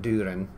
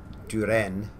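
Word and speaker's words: Düren: As I say, this is not Durin either. Duren.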